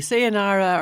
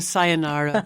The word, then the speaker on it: sayonara: pronouncing that right Agnes yes it can be say a Nara or a sayonara I think you've got it right I always get a